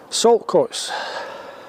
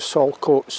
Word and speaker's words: Saltcoats: Although I suspect sometimes in pronunciation the T is dropped and you would never think that the word salt was in there.